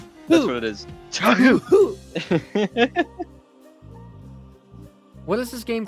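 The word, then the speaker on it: Touhou: It's Tohu. That's what it is. Tohu.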